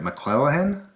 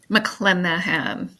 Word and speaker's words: McClenaghan: Mlelahan. Mlenahan. You don't see the G.